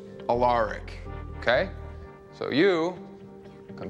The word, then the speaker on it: Alaric: You'll probably want to pronounce it Alaric, but it's Alaric, okay?